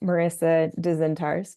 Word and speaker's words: Marisa Dzintars: I'm mostly on Instagram at Marisa Dzintars, phonetically Marisad, as in David, Z as in zebra,